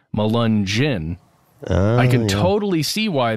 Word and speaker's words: Melungeon: description of this episode malungen is spelled m-e-l-u-n-g-e-o-n and the concept of it the way it sounds at the very end of that word malunjin I can totally see